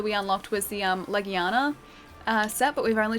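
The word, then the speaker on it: Legiana: Hunter creatures uh because people are laughing at me for calling it a Leana and that's exactly the way that you pronounce it it's called a Leana uh so it's it's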